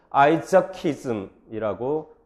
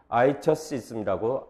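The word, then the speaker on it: Isaacism: 그래서 만약에 아이작이라는 사상가가 새로운 철학을 만들면 우리는 아이자키즘이라고 발음을 하지 아이저시즘이라고 안 합니다. 왜냐하면 아이작은 Germanic 어원, 네이티브 잉글리시 어원을 가졌기 때문에 로만스어가 아니니까 필라스 오프닝이 안 일어나고 그 발음이 그대로 난다는 얘기입니다.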